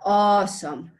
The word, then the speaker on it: awesome: Entonces, ya quedamos que la pronunciación de awesome es un poco cancelando nuestra mente la A y pensándolo como un poco la W, ¿no? Como la awesome.